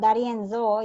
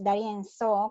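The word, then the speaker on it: D'Arienzo: It's not Darienzo, it's Darienzo, because Z is pronounced as S, yeah?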